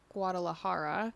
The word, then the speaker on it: Guadalajara: I had it at Fiesta Guadalajara. Whoa, you nailed the syllables there.